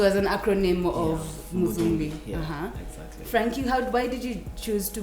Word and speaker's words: Frankhie: always been certain that this h-i-e should be pronounced and it's not silent so i wasn't saying i wasn't saying frankie at first yeah i tried i